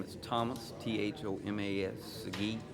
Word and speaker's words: Sigee: My name is Thomas, Thomas, Sigee, Sigee.